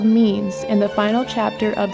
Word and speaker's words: meme: He derives the word meme from its Greek root mimeme, which means imitation, and tweaks it to one syllable so that it sounds like gene.